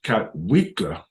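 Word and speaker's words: Kotwica: Special teams coach Ben Katwika, pronounced Katwika, enters his first season as special teams coordinator for the Broncos.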